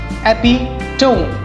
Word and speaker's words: epitome: Epitome. नहीं, पहले इसका मतलब बता देता हूँ. इसका मतलब होता है सिंबल. किसी चीज़ को दर्शाना, symbol. It's the correct pronunciation for this word is epitome.